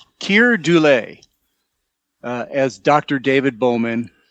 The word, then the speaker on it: Keir Dullea: Like you said, uh I looked up how to pronounce this guy's name. It's Keir Dullea uh as Dr.